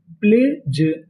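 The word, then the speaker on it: pledge: अगर आपको इंग्लिश में कहीं पर डी जी ई लिखा मिले तो हम लोग डी जी ई को पढ़ते हैं जा। क्या पढ़ते हैं? जा। तो मीनिंग क्या बनी? प्लेज। प्लेज।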